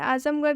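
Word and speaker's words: Azamgarh: आजमगढ़ जो शब्द है इसके अंत में आर एच आया है और ये एक जगह का नाम है इसलिए आर एच का उच्चारण ढ से हुआ है।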